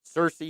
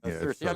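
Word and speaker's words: Searcy: just out here in Cersei cersi you know cersi cers I'm getting the pronunciation down don't don't let anybody tell you it's cersi it's not also not canis right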